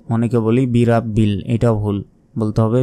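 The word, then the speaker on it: برب: অক্ষর উচ্চারণ করার জন্য অবশ্যই জিহা বের করে উচ্চারণ করতে হবে নরম ভাবে আউজু আউজু বলবেন না আউজু বি রব্বিল বি রব্বিল অনেকে বলি বি রাব্বিল এটাও ভুল বলতে হবে বি রব্বিল ফালাক ফালাক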